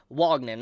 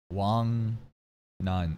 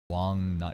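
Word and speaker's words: Wangnan: ring from Wagman I Wagman Wagman Wong n it's so easy Wong n it's it's not even like a language Gap these are very easy pronounceable things for English speaking audiences Wong Wong nun is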